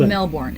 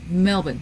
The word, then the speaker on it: Melbourne: which makes sense Melbourne it's not Melbourne it's Melbourne it's Melbourne Melbourne the r is silent got it well in